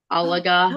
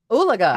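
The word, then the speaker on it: Oologah: an hour outside of Tulsa, Alaga. Oh, Oolaga. Oolaga. Did I say it right?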